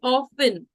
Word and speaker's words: often: said often it's actually often often and not often uh because the t is silent when we use the word often so it's often also